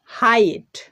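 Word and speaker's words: height: পরে জি এইচ রয়েছে এখানে কিন্তু জি এইচ সাইলেন্ট হয়ে গেছে হাইট নেক্সট আইদার আইদার এখানেও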